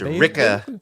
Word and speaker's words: Wrecker: And it's Ricka and Tick. You gotta say Ricka. Exactly. So it's like a Taika Waititi accent. That's what it sounds like.